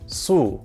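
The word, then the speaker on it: 宿: This character is pronounced su and means stay or to lodge.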